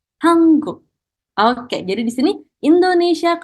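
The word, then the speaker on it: 한국: Jadi di sini huruf N, nian, ketemu dengan huruf Kyok, maka kita bacanya menjadi Hanguk.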